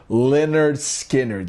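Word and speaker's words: Lynyrd Skynyrd: It is pronounced Leonard Skinnard.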